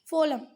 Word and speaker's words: फ्लोएम: फ्लोएम। ठीक है, फ्लोएम। ठीक है, क्या है ये? फ्लोएम, ध्यान रखना, फ्लोएम। ठीक है, मैं जाइलम फोलियम बोलती हूँ पर वो उसका करेक्ट प्रोनाउंसिएशन क्या है? फोलम।